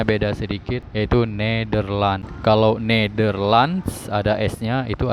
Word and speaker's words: Nederland: Jadi hampir sama ya, cuman bacanya beda sedikit, yaitu Nederland.